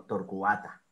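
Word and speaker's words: torquata: Bien, en torcuata eso no es un diptongo, entonces el cua no suena como una sola sílaba, sino como dos, porque son dos sílabas, torcuata. Y el acento está en la A.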